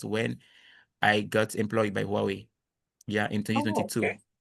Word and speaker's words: Huawei: That's when I got employed by Huawei. Yeah, in Oh, 2022. okay. Yeah, It's pronounced Wowie. Yep. Huawei. Yeah, Wowie.